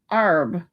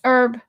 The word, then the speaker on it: herb: What about the word herb or is it arb? Is darvader actually derbader? Stop it, Zach. Nope. It's herb.